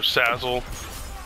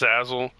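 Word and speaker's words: Salazzle: It's spelled S-A-L-A-Z-Z-L-E. I think it's pronounced Sazzle, but for Pokemon Sun and Pokemon Moon.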